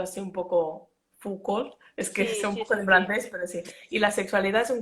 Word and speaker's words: Foucault: Bueno, lo he pronunciado así un poco Foucault, es que Sí, es un sí, poco sí, de sí.